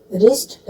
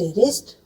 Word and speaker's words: wrist: इसी तरह मैं कुछ और वर्ड्स आपको बताती हूँ कहाँ कहाँ डब्लू साइलेंट होता है। रिस्ट, WRIST, रिस्ट।